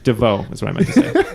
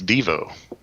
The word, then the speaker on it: Devo: No exclamation point it's Devo yeah it is Devo good job guys somehow Neil pulled that one out well I know it's per supposed to be pronounced DeVoe so I just I